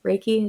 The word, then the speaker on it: Reiki: point so how you said like re Reiki Reiki is how you pronounce it right right yes and energy yeah